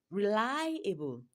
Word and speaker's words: reliable: So, reliable, lie is longer and louder than others. So, reliable is stressed on the second syllable.